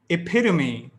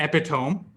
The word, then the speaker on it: epitome: some more quick ones epitome not epitome yes yes you yes you make this mistake it's not epitome it's epitome athlete not athlete f